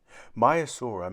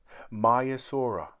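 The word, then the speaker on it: Maiasaura: does the name mean myasura means good mother lizard the females were very protective over their young how do you say it my asura say my asura in the sea many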